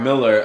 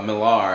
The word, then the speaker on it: Millar: movie like uh like Mark Miller Millar and that's how you say his name Mark Millar he's always everybody does